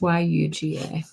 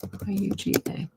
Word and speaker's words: Yuga: And that's what I think those yuga cycles were.